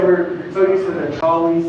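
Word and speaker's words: Chaui: But we're used to in English, we're used to English sounds to kind of draw that in.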